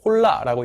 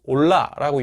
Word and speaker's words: hola: 그래서 뭐 이제 HOLA라고 돼 있는 걸 그냥 영어식으로 읽는다면 홀라라고 읽겠지만 실제로 이제 그 스페인 사람들은 올라라고 읽죠.